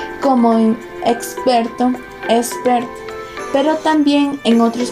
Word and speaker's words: experto: La X a menudo se pronuncia simplemente como S, especialmente ante consonantes como en experto, expert, pero también en otros contextos como en auxilio, auxilio.